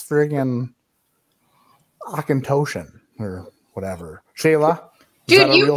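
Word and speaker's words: Auchentoshan: you can't just be like oh it's friggin akintoshian or whatever shayla dude you forgot you pronounce that like perfectly good job nailed it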